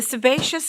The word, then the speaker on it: sebaceous: The sebaceous glands secrete oil for skin lubrication. Am I pronouncing the word correctly?